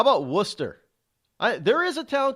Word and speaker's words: Worcester: How about Worcester? There is a town called Worcester or Worcester. W-O-O-S-T-E-R. That's the way you think they pronounce it.